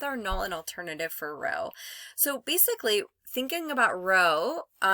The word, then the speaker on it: rho: We pronounce it, it's called rho. Okay, that's rho.